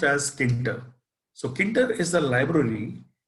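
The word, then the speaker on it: Tkinter: basically if you remember so this actually is pronounced as kinder so kinder is the library which we can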